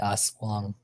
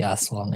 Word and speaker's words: aswang: That's for the aswang.